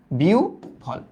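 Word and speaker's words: বিহ্বল: ধরো এই যে বি, হ্যাঁ হয়ের উচ্চারণটা হয়ে যাবে উ এর মতো, বিউ, তারপর কি ভল, বিউ ভল, বুঝছো, দেখো কি ইজি, ব্যাপারটা কি ইজি, ডান, এই ব্যাপারটা ডান।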